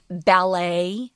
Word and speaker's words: ballet: And so we've kind of capped the pronunciation, like ballet is also French. Right, there's an accent on the first syllable there. Yeah. Ballet, ballet. Although ballet is also correct.